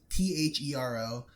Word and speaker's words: Thero: What we're talking about to our viewers is the CRKT Thero, THERO. I'm spelling it out because everyone tells me to pronounce everything wrong.